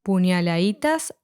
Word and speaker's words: puñaladitas: Puñaladitas da su ambición. As in demasiado, the letter D in puñaladitas was omitted, so it's pronounced puñaladitas instead.